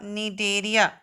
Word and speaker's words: Cnidaria: दूसरा जो सेकंड हमने पढ़ा था वो था हमारा निडेरिया. CNIDARIA. सी साइलेंट है.